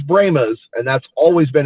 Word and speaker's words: Brahmas: reason they went with bramas their pronunciation of it spelled exactly the same but they chose bremas and that's always been